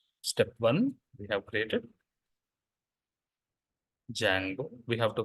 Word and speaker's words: Django: and mod okay perfect now activities required for application what did we do today step one we have created Jango we have to pronounce it as Django should not pronounce it